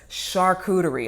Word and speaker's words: charcuterie: it's not your coochie it's not charcuter re I used to be an English teacher three syllables y'all I was you know